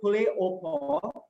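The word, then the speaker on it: poule au pot: So chicken soup basically, or stewed soup, or poulet au pot, it's pronounced as poulet au pot.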